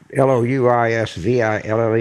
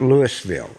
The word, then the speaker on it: Louisville: Yeah, okay, so I'm not sure for the Louisville and Colorado, but when you talk about Louisville in Kentucky, it's not Louisville, it's Louisville.